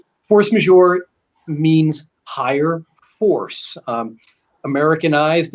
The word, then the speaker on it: force majeure: horse major is french though it is actually pronounced force major force major means higher force um americanized it is what